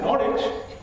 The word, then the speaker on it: Norwich: And it is not Greenwich, because in Greenwich and Norwich, the W is silent.